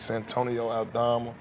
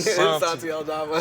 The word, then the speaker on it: Santi Aldama: But, you know, you got guys like Santonio Aldama. Did I say his name right? Santi. Santi. Santi Aldama.